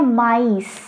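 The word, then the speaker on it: maïs: मतलब ये होता है कॉर्न, अब इसको हम बोलते हैं माइस, माइस, माइस मतलब कॉर्न। अब यहाँ देखो एस को हमने प्रोनाउंस करा है और यहाँ पे हमने एस को प्रोनाउंस नहीं करा है।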